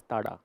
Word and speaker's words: Zara: brand Zara then and this is not the exact pronunciation. It is a Spanish brand. It is called as Tara then. Yeah that's a pronunciation but then uh we call it Zara.